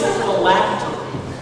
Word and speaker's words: phylactery: The word is phylactery. Phylactery. Am I pronouncing that correctly?